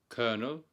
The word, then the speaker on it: colonel: attorney, rehearse, courteous, connoisseur, colonel, the same. In fact, colonel is the only word in the English language that is pronounced with an R-like sound, but has no letter R in the spelling. Colonel.